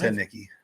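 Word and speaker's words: Heinicke: Hey, I don't know why you guys keep pronouncing his last name wrong, but Because it's I Heineke. don't know. it's Heineke.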